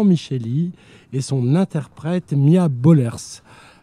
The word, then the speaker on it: Bollaers: et son interprète Mia Bollers. Je ne sais pas si on prononce comme ça. Non, c'est Bollers.